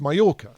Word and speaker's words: Mallorca: this is very Insider so we're heading to Majorca or Mala which Maya which is pronounced mayorca and there we'll be learning all about the